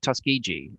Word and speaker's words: Tuskegee: And I'd like you to explain to me and to the people listening about Tuskegee. That's the right way to say it. Yeah, Tuskegee or Tuskegee.